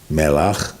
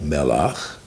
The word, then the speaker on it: melach: Melach, melech, salt, king.